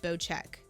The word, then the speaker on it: Bocek: bow but i think it's actually called bow check is how they're calling it it's bow check it's the proper pronunciation of it the bow check bow